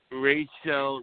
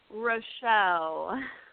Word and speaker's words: Rachele: here hi everybody now our guest today is Rachel Roy yow is that how you pronounce it Rochelle Rochelle Rochelle okay as I got the impression